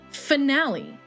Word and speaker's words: finale: And I will see you guys tomorrow for Super Mario Mon finale. Finale. It rhymes with fragile.